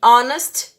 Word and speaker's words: honest: Quando o H é mudo, como our e honor, e honest, nós utilizamos o an, ok?